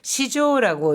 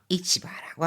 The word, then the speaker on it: 市場: 이 시장은 시조라고 읽습니다. 이 시장을 시조라고 읽는 것은 추상적인 개념의 시장이라든가 너무너무 큰 규모의 시장, 여론시장이라든가 증권시장 뭐 이럴 때는 전부 시조라고 읽죠. 반면에 뭐 남대문 시장이라든가 재래시장 이런 것들은 전부 市場。 이치바라고 합니다.